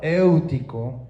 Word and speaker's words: Éutico: Y un joven llamado Éutico, aunque en español no tiene el acento, estuve investigando y se pronuncia como éutico, eh, que estaba sentado en